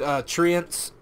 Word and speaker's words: treant: of trends I think other people also pronounce it treants which makes sense because trees but I'm just gonna say treads if you only learn